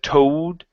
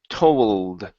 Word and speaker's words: told: is the word told make sure to get this L sound here before you said toad okay use your tongue to pronounce the L and not your lips its toll told told told okay bring your lips back just a little bit more let your tongue do the work ooh toe told told